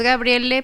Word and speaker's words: Gabriele: amort o gabriele amort pero es gabriele porque así se escribe no sí no no es porque lo haya querido decir no así se escribe su nombre entonces para es era